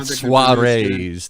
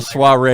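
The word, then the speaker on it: soirée: Give people private suarees, these private events. So my uh the Instagram is bonjour.relets. And spell that because nobody will.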